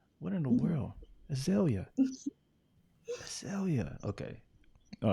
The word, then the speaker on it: Azalea: the Azalea like the flower. Azalea. Azalea. Mhm. Azalea. What in the Mhm. world? Azalea.